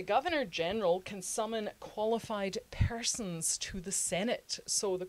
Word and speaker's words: Persons: With my accent, I should spell it P-E-R-S-O-N. Yes, the Persons, not the Parsons.